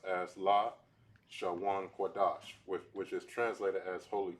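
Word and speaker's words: Lashon Kodesh: This says at the upper left-hand corner, this is pronounced as La Shawan Kodash, which is translated as holy tongue.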